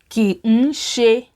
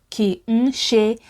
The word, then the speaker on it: Kì ń ṣe: And also when native speakers say ki n ṣe, it sounds like ki n ṣe, ki n ṣe. It is pronounced as 2 words instead of 3, which is okay when